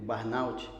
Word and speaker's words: burnout: vamos tratar hoje é o barnaut não sei se é assim que que pronuncia né é assim é a gente fica treinando né como fala exato inclusive o pessoal fala assim ô Mas me fala é barnaut ou burna ou burut aí eu falei nossa não